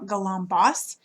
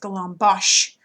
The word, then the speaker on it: Galambos: And his last name looks like Galambos, but it's actually pronounced Galambosh, like it's an SH at the end.